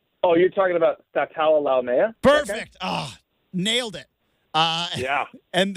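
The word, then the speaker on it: Sataoa Laumea: Help me pronounce his name. Oh, you're talking about Statala Laumea?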